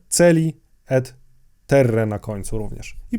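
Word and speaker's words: caeli: przypomnę po raz kolejny mówiłem w poprzednich odcinkach że łaciński a czytamy jako jedną głoskę e w polskiej wymowie łaciny i mamy to tutaj w dwóch słowach celi Terre na końcu również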